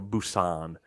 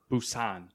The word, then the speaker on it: Busan: on Alex loose on its Korean so I think it's like uh like a Busan Busan yeah officially live and that